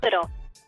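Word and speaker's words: Lyttle: It's Little, yeah. Little.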